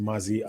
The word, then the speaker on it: Maisy: guys all right um Maisy everybody can tell he says he says his name is pronounced Mazi and yeah I'm sorry